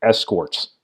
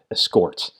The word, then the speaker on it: escorts: I think I put the emphasis on the wrong syllable there. Escorts them to victory, not escorts.